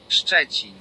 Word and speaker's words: Szczecin: Szczecin. That's how you write it, that's how you pronounce it.